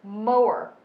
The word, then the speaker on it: Moyer: Moyer. Moyer. So we're both kind of wrong. Oh. It's mower, like a cow.